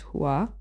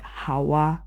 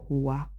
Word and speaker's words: Huwa: My name is not Hawa. My name is Huwa. Huwa. Huwa. Huwa. I like the way you say it. Yeah. Yeah. Say it again. Huwa.